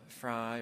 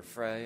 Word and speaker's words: Frey: what a great Gallery Viola fry or Frey I've heard it pronounced either way uh so Monumental at